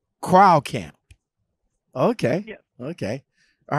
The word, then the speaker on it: Kreilkamp: Again, how do you pronounce it again? Kreilkamp. Kreilkamp.